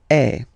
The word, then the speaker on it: est: So il est, or then elle est. So you can notice that even if we write them differently, this est like that and est like that, we pronounce them the same way.